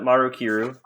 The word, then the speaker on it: Maru Kiru: But back to Maru Kiru, right? Did I got it right again? You did, yeah.